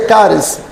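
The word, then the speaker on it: χάρις: vem do grego caris se escreve chares mas se pronuncia cares cares que significa oferta significa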